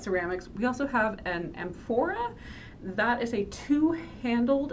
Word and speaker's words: amphora: evaporate out so it lasts longer and that's amphora a m p h o r a and